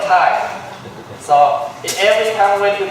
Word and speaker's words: Thầy: You say today Thầy was home. Thầy will give a Dhamma talk. They write the word Thay in Vietnamese. They put the bracket T-I-E. So people can pronounce that word Thay.